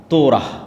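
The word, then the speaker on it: תורה: তোরাহ বলে ইহুদিরা উচ্চারণ করে যে তোরাহ যখন তাওরাত দেওয়া হলো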